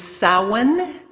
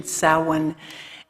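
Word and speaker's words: Samhain: to that holiday uh the older name is sowen it is spelled Sam Hayne but that is not the pronunciation salwan and um beef I was doing some um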